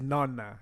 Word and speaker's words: nonna: So yeah, the right pronunciation is nonna.